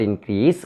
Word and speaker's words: increase: Since this word consists of two syllables, we should stress on the first syllable, no, on the second syllable.